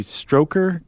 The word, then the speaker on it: Strokkur: Like uh there was one called the Strokkur Geyser. That that that would be s t r o k k u r. Yeah, and not Strokkur like Stroker Ace.